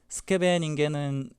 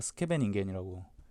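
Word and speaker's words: Scheveningen: 선수 이름으로 들어간 거고 스케베 겐은 어 네덜란드의 지방 이름인데 거기서 대회에서 이제 유명해졌기 때문에 스케베 겐 뭐 이렇게리는 거죠 원래 이게 제가인 알 현 가서 보니까 다 스케베 닝겐이라 부르더라고요 예 원 발음은 이건 거 같습니다 일단 그렇고요 어 나이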